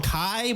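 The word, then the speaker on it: Kay: They call him Kai, but it's spelled K-A-Y.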